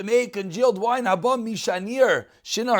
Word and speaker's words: Shinar: Shinar, I think is actually the way you pronounce it.